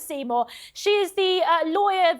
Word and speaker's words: Seymour: even spell Seymour honestly her name isn't even spelled correctly which is so simore I know but she pronounces it Seymour she is the uh